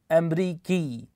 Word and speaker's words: أمريكي: Here, we get rid of the sound at the end of the word and replace it with an E sound, أمريكي.